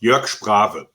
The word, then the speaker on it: Jörg Sprave: Well, it's pronounced Jörg Sprave. So. And okay. I'm a Jörg and not a jerk.